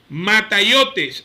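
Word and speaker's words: ματαιότης: El término vano utilizado en griego es el siguiente, así suena la palabra. Mataiotes, así se pronuncia, así suena porque me dediqué tiempo a buscarla.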